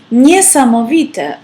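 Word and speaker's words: niesamowita: so we will say near some of it nee-sama Vita often pronounced with a lot of emotion like for example nisam Evita is amazing p.m.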